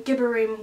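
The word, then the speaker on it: Gibborim: For anyone wondering, Gibberim would be the correct pronunciation.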